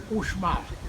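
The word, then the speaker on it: Uxmal: When the party time, change in pronunciation, iguana, change in pronunciation is for the reason called now Ushmal. It's the same, only change in pronunciation, Ushmal, the 3 times building, you know.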